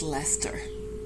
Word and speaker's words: Leicester: es de R but it is pronounced Lester and the last one